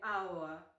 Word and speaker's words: hour: If the word starts with a vowel sound, use an hour. Because the H is silent, so it starts with a vowel sound.